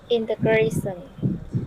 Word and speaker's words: integration: Integration. Sean, integration. That is basically an SH sound in the end, alright?